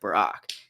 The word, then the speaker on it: Barack: funny thing is that the hebrew pronunciation is barack but um but the